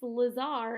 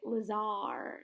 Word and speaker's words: Lazar: Miss Lazar is bizarre. Oh, that's how you say it. Lazar is bizarre.